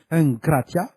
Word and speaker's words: egkrateia: Le mot egkrateia, voir le dictionnaire grec de Strong numéro 1466, prononcé enkratia, est dérivé de engrates, voir le dictionnaire grec